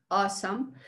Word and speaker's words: awesome: Otra vez, awesome. Si se dan cuenta en mi pronunciación, no estoy haciendo el sonido de la A, ¿no?